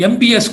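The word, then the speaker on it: Möbius: So the new curve is what is called the MBS curve, a mathematical model described by AT-MBS. It's spelled as Mobius, but pronounced as MBS, wherein if you start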